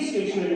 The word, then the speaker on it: stationery: This is STATIONARY, इसको भी स्टेशनरी बोलते हैं, और STATIONERY इसको भी स्टेशनरी बोला जाता है, यानी कि लगभग दोनों का प्रोनाउंसिएशन सेम ही होता है।